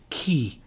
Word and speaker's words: chi: k sound so that combination of CH sounds like K in English and uh so uh a common use is key which sounds like the word key uh and it uh is the Italian word for who K the uh CH